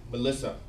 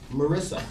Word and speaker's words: Marissa: As my eldest cousin, Frank, reflects, Grandpa was always overjoyed to see his great-granddaughter, Melissa. Frank was wise enough not to correct, but remind Grandpa that it was actually pronounced Marissa.